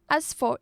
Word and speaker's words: production: on the second syllable production again production a three syllable word the stress was is on the second one next we heard they